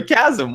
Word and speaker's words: chasm: Chasm or chasm? What the hell today? Chasm's good. That's what I thought. English is weird. It's like there's no standardized way of pronouncing things. You just have to have heard them said before. You can be really well read and mispronounce everything because you've never heard them spoken out loud. Yeah. I'll just say chasim. Chasm. A chasm. That's how you say it.